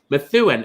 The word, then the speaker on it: Methuen: Methuen. Oh, so you do pronounce all the letters.